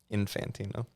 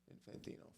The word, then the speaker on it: Infantino: that Carmine Carmine Santino Infantino car car like car and then mine like mine then infant with an O at the end Infantino flash here we go